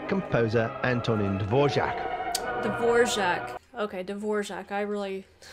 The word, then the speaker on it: Dvořák: Okay, Dvořák. I really mispronounced his name.